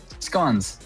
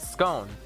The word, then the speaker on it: scone: Well, I pronounce it scone, but um yes, both work, but you wrote scone fig. So, scon.